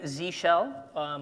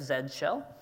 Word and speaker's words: Z shell: thing so I'm actually using Z shell or as the Brits say where I live Zed's shell and so that profile